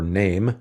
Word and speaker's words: NAfME: Now, of course, NAFME, or NAME, as they would like us to pronounce it, puts singing alone and